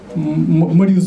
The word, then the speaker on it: Моризо: 10 минут Да компания моризо как мне сказали на последний слог Да ударения он тоже